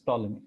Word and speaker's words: Ptolemy: You can read it here, Ptolemy theorem, P silent. Although in my name it isn't, but yeah. Anyways, a P is silent here and it's Ptolemy, okay?